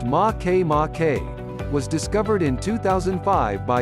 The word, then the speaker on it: Makemake: rotation might explain its oval shape make make pronounced ma que ma K was discovered in 2005 by U.S astronomer Mike